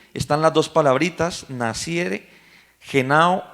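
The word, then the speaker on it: γεννάω: Esta palabrita nacer en el idioma que fue escrito en el griego, se pronuncia genao.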